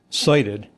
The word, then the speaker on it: SITID: So, si ti d pronounced uh cited.